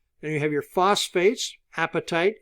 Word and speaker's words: apatite: you have your phosphates apatite is the I know phosphates it is your appetite for your stomach is quite a bit different spelling than this one okay but it's pronounced the same and then you have